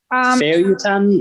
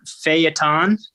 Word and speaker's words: feuilleton: feuilleton methods.